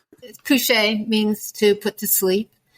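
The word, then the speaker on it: kouche: Can you talk a little bit about it and actually pronounce that correctly? Cushe means to put to sleep and it refers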